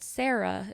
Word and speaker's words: Cera: And my mom's like, oh, well, there's a little girl dinosaur called Sarah. It's spelled Cera because she's a triceratops.